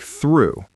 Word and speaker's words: through: And it is pronounced like through, just like the word true or blue.